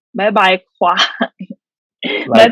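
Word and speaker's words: ควาย: But In Thai, buffalo in Thai is kwai. Mm. Can you pronounce it, Eric? Why? Kwai. Yeah, Why? like kwai is like fuck you, like you know. Yeah, kwai. Like make it sound angry, like Why?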